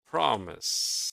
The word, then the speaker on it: promise: How about promise? Prefer is stressed on the second syllable. Yes, repair. Promise is stressed on the first syllable.